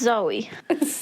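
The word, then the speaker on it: Zooey: what's it JY um zooie is that how you pronounce her name because it's written as zoie but it's Zoe is it it's weird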